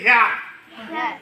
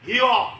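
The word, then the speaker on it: here: আমরা উচ্চারণ করি হেয়ার, কিন্তু এই উচ্চারণটা হি আর ও, বলো হিও, মানে এই ব্রিটিশ ইংলিশ উচ্চারণে আরটা উচ্চারণ হবে না, হেয়ার বলা যাবে না, র নাই, বলো হি ও, হিও।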